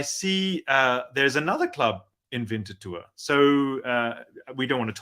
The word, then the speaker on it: Winterthur: So am I saying it right? Winterthur is the area that you're from. I did a little bit of research tonight about the club. Yeah, good job. Yeah, it's Winterthur. Winterthur is the city.